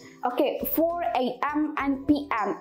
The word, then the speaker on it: AM: Indonesia, some of Indonesian people still have a mispronunciation about this because they always say like EM, 6 EM. No, actually not EM. But AM, karena itu dari dua huruf, A sama M, AM.